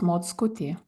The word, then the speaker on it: Mockutė: I can say the spelling, My surname, by the way, it's Mockutė. Yeah, see, I knew if I tried to pronounce that, it would have been I bad.